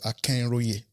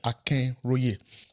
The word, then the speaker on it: Akinroye: So I said Akinroye. Akinroye is funkified, right? It's like you're pronouncing my name in an English, with an English tone. But my name is Yoruba. My name is Ikale in Yoruba, which is Akinroye. I mean, the Yoruba alternative will be Akin.